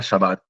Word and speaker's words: Shabbat: Porque de hecho los en una parte de los judíos, en la parte de Francia y España se le al Shabbat como no podía pronunciarlo igual que en el norte de Israel no podía pronunciar bien a Shin era sin sabat.